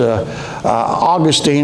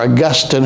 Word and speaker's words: Augustine: It was Augustine or Augustine, however you want to pronounce him. I was telling Kathy, when I went to Bible college, he was Augustine, and now today everybody calls him Augustine.